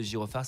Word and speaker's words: Girofard: mail et en fait le girophar s'écrit g i r o F a r d c'est un piège et du coup voilà